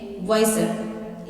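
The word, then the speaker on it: Wysr: आई एस आर इसका आपका जो बोलने का लायक वाई सर नहीं बोलिएगा आप बोल रहे की वा सर डब्लू आई एस वार वा सर आपका जो स्पेलिंग का लेटर है ना वाई सो आप वाई से इसको कन्वर्ट कर लीजिएगा सो ये आपके बोलने के लिए लेकिन स्पेलिंग यही है double I Y double I एस आर लेकिन आप जब बोलोगे स बोलने के लिए वाइसर एक वर्ड इंडियास फास्ट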